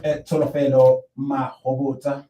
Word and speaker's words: Tsholofelo Mahobotsha: Yeah, we will be continuing with Tsholofelo Mahobotsha. Yes. You pronounced it perfectly well.